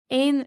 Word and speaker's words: éan: Ain is bird.